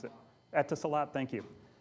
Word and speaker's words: Etisalat: I don't know how to pronounce it. Etisalat, thank you. Etisalat is a cell carrier in the UAE, the United Arab Emirates.